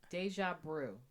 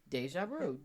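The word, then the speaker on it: déjà vu: gonna like my sins deja brew this is a word pronouncing it right no it's deja brew I checked it okay I checked it no stage of root I'm listening I'm just as shocked as you one word deja vu d UJ ABR e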